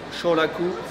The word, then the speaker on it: Shoraku: Ça se prononce Shoraku.